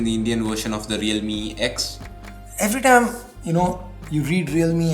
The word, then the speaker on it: Realme X: You read Realme X, you go like Realme 10. Am I saying it wrong? Okay, no, it's Realme X.